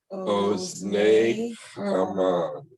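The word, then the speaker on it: אוזני המן: It's in kamatz, it's called a kamatz katan, and it's pronounced like an O. Ozne Haman. Oznei Haman.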